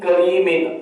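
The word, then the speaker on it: كريم: کے آگے لفظ ہے کریم، کاف زبر کا، را یا زینی، کریم، میم دو زیر مین، کریم، اس طریقے سے اس کو پڑھتے ہیں۔ آپ پہلے جو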